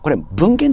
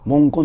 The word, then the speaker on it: 文言: 後でやりますこれ文献と読まないでね文言って読みますからね条文の